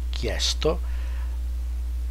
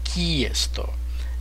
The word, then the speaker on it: chiesto: So the pronunciation of this particular word is chiesto, and the accent mark, stress mark, prevents you from pronouncing it chiesto, in case you wanted to stress this particular vowel.